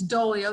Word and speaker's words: Doglio: And it's Doglio, the G is silent, and watch my campaign video.